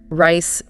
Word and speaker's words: rice: Like your example earlier, rice versus lice. Perfect example. The R in rice is usually soft. The tongue curls back a bit but doesn't tap anything.